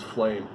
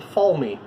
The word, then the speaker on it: Falme: Every time I read it, I saw it as flame. And as soon as I heard it from somebody else, I realized it's not spelled flame. It's spelled Falme.